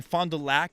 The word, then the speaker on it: Fond du Lac: guest here we have renee down here in fond du lac i'm told is how it's supposed to be pronounced i keep saying lock yeah we're big fans of you guys keep